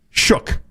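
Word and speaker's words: Shough: It's Tyler Shook. And I In fairness, this is on Tyler Shook. I I don't know how he ever came up with that how that's how you say his name, but we've known that forever.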